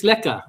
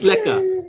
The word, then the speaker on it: lekker: So, uh how do you say it? Lekker. It's lekker, right, Alicia? All right, so it's lekker.